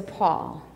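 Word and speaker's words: pall: do you call that it's a Paul exactly it's spelled p a l l that's where the Paul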